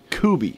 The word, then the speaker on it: Kubi: I think it's Kubi. I think she pronounced it Kubi, like Coobie.